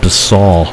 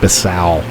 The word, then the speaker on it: Bissau: like it's actually pronounced basal not basal so maybe more like be saw i did not realize